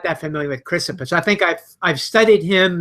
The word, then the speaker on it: Chrysippus: He's not content with Socrates here, so he brings in Chrysippus, I believe is the pronunciation. Correct me if I'm wrong on that. Chrysippus?